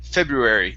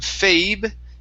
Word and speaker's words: February: word february right here february instead of fabe it's a short e february february okay very